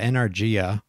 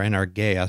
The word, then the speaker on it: energeia: Yeah, energia or energeia, sometimes pronounced.